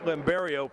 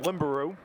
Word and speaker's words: Limario: the PA announcer to pronounce limario properly he called him limuru but we'll uh we'll